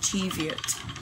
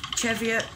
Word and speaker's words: Cheviot: A lot of people call it Cheviot. But that's because I like to say things as they're spelt, because, well, I'm Northern. I'm a Northern lass, and I say it as it's spelt.